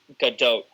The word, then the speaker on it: Gadot: Her name is pronounced Gadot.